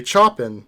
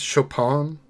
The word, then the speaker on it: Chopin: without anybody saying it I would just say chopping because you know and it's clearly not that but is it I think it's Chopin no maybe that'd be like the French pronunciation of it I don't remember that